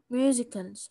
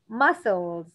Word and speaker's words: muscles: musicals muscles. لا دي مش musical. muscles muscles حرف السين مش بنطق.